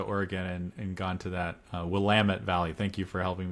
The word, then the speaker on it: Willamette: um and it is Willamette not Willamette it rhymes with the word we can't say on this podcast but you get the